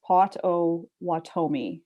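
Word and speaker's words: Potawatomi: audiobooks um oh and john p says it's pronounced pot o watomi named after a tribe that owns a bunch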